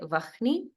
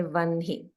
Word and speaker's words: वह्नि: And here everyone should note that even though the spelling is, according to grammar, is with H first and then the N, due to the rules of chanting for Krishna Yajurveda, it's pronounced with the N first, followed by the H. So we don't say Vahni, we say Vanhi.